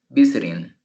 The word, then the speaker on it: visiting: Si quieren pronunciar visiting. Y si lo tuviera en la segunda, dijera visiting. Pero la pronunciación es visiting. I am visiting my grandmother. Estoy visitando a mi abuela. El acento está en la primera sílaba.